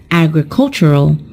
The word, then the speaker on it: agricultural: on the first syllable when we turn it into an adjective the stressed syllable is also changed and it is pronounced as agricultural so we've just talked